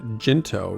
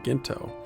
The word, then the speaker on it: Jinto: We learned that the most prominent one is pronounced with a soft G, so Jinto rather than Ginto.